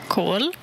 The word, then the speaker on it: kol: Kol. Kol, K-O-L, kol, c'est un O long ici, kol.